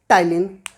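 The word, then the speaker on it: ptyalin: टाइलिन। P silent है।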